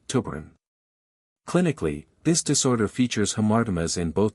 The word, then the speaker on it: tuberin: 16, which codes for tuberin, and yes, that's pronounced tuberin.